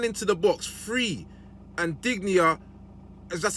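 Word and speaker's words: Digne: OE Watkins ran into the box free and digia that's how you pronounced his name put the ball on a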